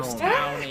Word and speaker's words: Lewistown: I was like, how do you pronounce Lewiston? Lewistown, if you're from Lewistown. If you're not from Lewistown, you say Lewiston.